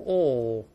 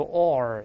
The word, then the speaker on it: ore: 再读一下，ore， ore，但英国人直接读成 ore，美音读 ore，加个儿化韵。